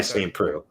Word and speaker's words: Saint Preux: It's pronounced by Saint Preux.